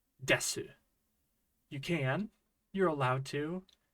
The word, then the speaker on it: です: the case of Des I never pronounce the U at the end of the word it sounds more like Des like an S sound